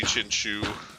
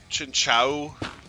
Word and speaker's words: Chinchou: I think it's supposed to be Chinchu. Chinchu, yeah. Like they pronounce it Chinchou in the anime, but it's something where